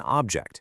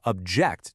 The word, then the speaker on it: object: physical thing, it's an object. See that stress on the front? But if you disagree with someone, you're going to object to their idea. And boom, the stress moves to that second syllable.